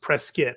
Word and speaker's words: Prescott: it up with another town but it is pronounced Prescott which is very well how the people are